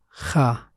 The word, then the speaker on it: خ: Its sound has no counterpart in English. You can say it like this: kha, kha. By putting the back of the tongue in touch with the top of the throat.